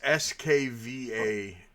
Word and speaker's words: Skvader: They're called Skavader. It's Skvader is what they're called. Skvader? Father? Skvader? Svader. Spader's It's done Spell it. the whole thing off. Go figure, Pieter. It's almost Russian sounding. SKV ADER. I mean, it's definitely Eastern European. Actually, Irish. It's actually Swedish.